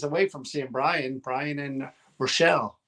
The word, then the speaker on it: Rochelle: We're a couple of days away from seeing Brian and Rochelle, right? Did I say it right? Rochelle, yeah.